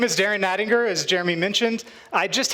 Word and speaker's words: Nattinger: to learn how to pronounce ninger g like a tiger like Tony the Tiger like Frosted Flakes they're great that's how you pronounce my last name if you can't remember that it's also like the G in GIF okay so so now